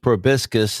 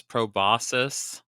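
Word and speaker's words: proboscis: I am and with me is the squeer with the biggest probiscus in the entire horde. Um, you pronounce that wrong. It's probosus.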